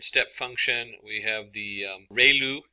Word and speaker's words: ReLU: just the standard step function we have the relu it's pronounced like ray the from the sun and liu like a name so relu function and we have the tangent h function